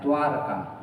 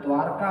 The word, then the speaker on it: द्वारका: शब्द और आता है द्वारका ठीक है द्वारका ये इसका शुद्ध उच्चारण द्वारका होना चाहिए लेकिन ये अशुद्ध उच्चारण इसका प्रचलन में है वो है द्वारिका अशुद्ध उच्चारण क्या है इसका द्वारिका और ऐसा ही फिर